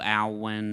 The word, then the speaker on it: Alwyn: I will say this is her post Joe Alwyn. Yeah. Is that how you say his name? Yeah, Alwyn.